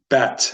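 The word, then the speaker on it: ב: can appear in it if if there's no dot you'd pronounce it that and then bet if it has a DOT and don't worry everything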